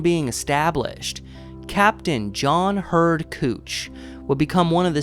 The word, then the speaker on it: Couch: In fact, his name itself is something of a talking point in the city, as most outsiders would assume it's pronounced couch cuz that's how it's spelled, but it's actually cooch.